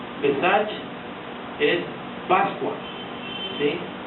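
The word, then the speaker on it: פסח: es Pascua la Pascua Es un término eh hebreo una palabra hebrea que quiere decir pasar de y se pronuncia pesach pesach es Pascua Sí y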